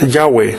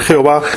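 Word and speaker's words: Yahveh: la clave y hoy nadie sabe con exactitud cómo se pronuncia aunque los filólogos están unánimes en decir que es yagüe pero nunca podría ser jehová o lleva y como se perdió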